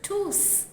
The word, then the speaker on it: tous: The correct translation is Vous devez tous arriver tôt. In this case, tous is acting as an indefinite pronoun, which is replacing people and means all. Therefore, you hear the last S in tous pronounced.